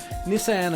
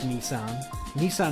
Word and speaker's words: Nissan: Now, Nissan, of course, Nissan is how you say it in the United States. I will say Nissan, because that's how we said it in England when I grew up.